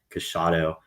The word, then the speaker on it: Casciato: Dominic Casciato, that was the way I believe it's pronounced.